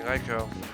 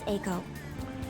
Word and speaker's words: Eiko: we're going to convince Eiko. Oh, it's Aiko. I believe some of the promoters No, it's around definitely here may know Aiko. something. Like, the correct way to pronounce it is Aiko.